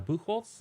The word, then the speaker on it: Buchholz: I'm Buckles is kind of how the Americans say it